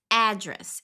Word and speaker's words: address: endereço, pra pronunciar endereço em inglês, vai ficar address. Ele tem um um pouco de pressão, de força mais no address, e o dress é um pouco mais suave, address, sozinho, pra endereço.